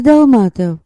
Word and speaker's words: Долматов: Илья Долматов. Через «а» с ударением на втором слоге.